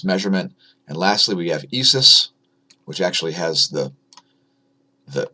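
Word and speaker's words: ISʘIS: it's doing its measurement and lastly we have esis which actually has the the the Greek letter symbol for the Sun in its acronym I don't know why it's pronounced esis it makes no sense to me that wants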